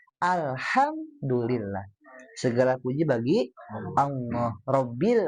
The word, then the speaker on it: Alhamdulillah: Kayak misalnya hamdalah gitu ya atau ayat kedua tadi kekeh bacanya alhamdulillah. Alhamdulillah gitu ya. Nah, hati-hati harusnya H kecil ya. Alhamdulillah.